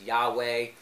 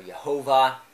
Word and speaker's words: Yahweh: the vowels and so which can be pronounced in different dialects as yahweh or jehovah if you think that